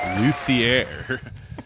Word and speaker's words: luthier: we have none other than Zack Ward guitar luier I pronounce that correctly yeah yeah that's a good